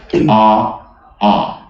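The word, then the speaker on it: ʻaʻā: And it pronounces a'a. In my language, when you have 2 vowels, you put that glottal stop we call an okina.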